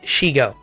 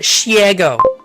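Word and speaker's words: Shego: It's pronounced and spelled Shigo. Yeah, Shigo. The green lady, right? Shigo. For some godforsaken reason, the Scuff Queen wants to call it Shiego.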